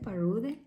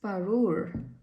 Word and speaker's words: Parure: I said Parude? It's Parure.